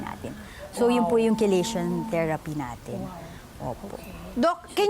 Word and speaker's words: chelation: Sabi ko nga po, meron tayong tinatawag ng chelation therapy.